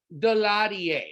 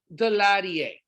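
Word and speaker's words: Daladier: a leader in france his name was eduard delarier that's how you pronounce his name so edward de la die he represents of course the french and if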